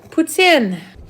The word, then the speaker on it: poutine: Poutine. My favorite pizza is Riverside. Favorite poutine? Louise. Poutine. English people pronounce it poutine.